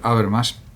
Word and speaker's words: Habermas: En este vídeo pretendo ofrecer un sencillo homenaje a este gran filósofo alemán, Jürgen Habermas, o también se puede pronunciar Habermas en español, que podemos considerar que